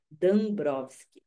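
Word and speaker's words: Dąbrowski: da obra do Dabrowski, ela diz que a gente fala Dambrowski, e esse dá tem uma cedilha no dá, né? Assim é que se escreve no polonês.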